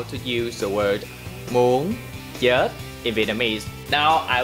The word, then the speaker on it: muốn: In today's video, I will teach you how to use the word muốn chết in Vietnamese. Now I will teach you how to pronounce the word muốn chết.